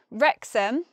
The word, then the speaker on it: Wrexham: In Wrexham, well, there's nothing really to say that's special about Wrexham, except we spell it with a W and we just say an R.